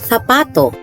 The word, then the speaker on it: zapato: The Spanish word for shoe is pronounced in Madrid as zapato, and in Latin America is pronounced as Zapato.